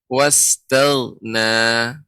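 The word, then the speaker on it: واستغنى: Jadi pertama diucapkan huruf ta secara sempurna, baru masuk ke huruf ghain. Tel. Ya. Wastaghna.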